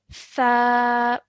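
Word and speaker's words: ثاء: you learnt yesterday, is tha. Could you try that again? Okay, so what you're doing is you're taking the tip of your tongue and you're touching it to the back of your top teeth.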